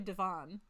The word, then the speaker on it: Devon: Oh yeah, and for all you who haven't heard me say my name out loud, it's actually Devon. There's a hockey player who says his name that way. So Devon.